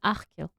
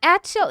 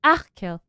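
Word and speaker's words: Achill: Pronunciation Achkill. Achkill. It's not Achel, it's Achkill.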